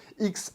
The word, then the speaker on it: GSX-S 1000 X: avec une GSX-S 1000 X à prononcer cross, mais enfin moi je dirais X quand même.